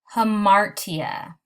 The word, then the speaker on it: hamartia: The first one is pronounced hamartia, and it is also sometimes known as the tragic flaw.